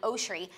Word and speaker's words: Oshry: Ariana Grande it's like if the whole world call me Jackie oshri I actually wouldn't correct them because that's actually the right pronunciation right pronunciation because our